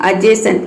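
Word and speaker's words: adjacent: अजेसेंट, इसको बोलते हैं अजेसेंट, इसका मतलब होता है बगल में। उसी तरह से यहाँ पे देखिए एडजस्ट, इसको प्रोनाउंस करते हैं एडजस्ट, इसमें डी साइलेंट है एडजस्ट।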